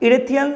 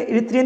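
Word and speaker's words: Erythraean: को Periplus of द इरेथियन सी, ठीक है। तो इरिथ्रियन, इसको देखिए जो आपको प्रोनाउंस करेंगे इरिथ्रियन ही बोलेंगे, ठीक है, यहाँ पे मिस्टेक है।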